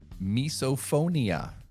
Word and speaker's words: misophonia: The fear of chewing sounds is known as misophonia. Come on. It's very close. I know. Misophonia, like misophobia. Phone, like audio, like hearing. God dang it. MISO. So it's spelled slightly differently, but misophonia.